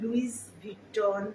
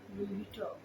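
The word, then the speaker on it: Louis Vuitton: হ্যাঁ, কেউ লুইস ভিটন বা লুইস ভিটন বা এই জাতীয় কিছু বলবে না, লুই ভিটন বললেই হবে।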